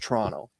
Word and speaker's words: Toronto: reference my home City the way that most people do that live in that area you drop that second T and it's just Toronto um if you want